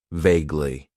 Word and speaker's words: vaguely: and that is vaguely it has two syllables and the stress is on that first syllable vaguely vaguely means that something